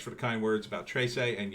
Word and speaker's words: Trese: the kind words about tracee and yes it's pronounced trisay i i'm not even